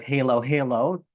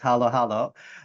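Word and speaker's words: halo-halo: Of course, some people in my Western world call it halo halo because of the way it's spelled, but it's halo halo.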